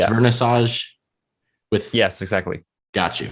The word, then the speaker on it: Wernissage: exactly i love and then it's vernassage with yes exactly got you okay nice you're actually like really good at pronouncing my names like both of my names